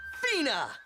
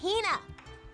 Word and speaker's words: Hina: And this young lady is my traveling companion, the esteemed archaeologist, Fina. Ugh, you keep saying it wrong. It's Hina.